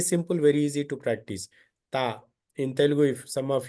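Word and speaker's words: ت: Here, ta means it is very light sound, very easily can pronounce.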